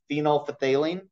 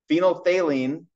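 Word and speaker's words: phenolphthalein: tricky word to pronounce technically it's phenol Faline we just usually ignore that that pH in there when it comes to saying it out loud phenol thaline is that compound that's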